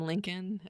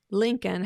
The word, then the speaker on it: Lincoln: of it we had discussed that Lincoln has a silent letter in it that second L when it came to